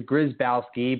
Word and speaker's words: Grzybowski: Just think of it as three syllables and sneeze beforehand, and you would have nailed it. But the Grzybowski, but good enough for me.